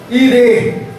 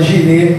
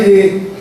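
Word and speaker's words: Jiré: lugar eh de Adonai o senhor irê né ou alguém fala girê por causa do Jota aí Jeová girê o que não é nem pronunciado mas Adonai ire aquele que vê aquele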